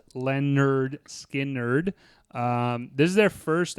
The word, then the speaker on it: Lynyrd Skynyrd: uh we did 1973 Leonard skiner pronounced Lenard skin nerd um this is their